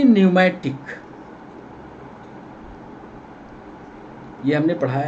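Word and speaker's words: pneumatic: सवाल question number P न्यूमेटिक यह हमने पढ़ाया है पमेट बोन पी साइलेंट है न्यूमेटिक इसको बोलते हैं ऐसी हड्डिया जिसमें एयर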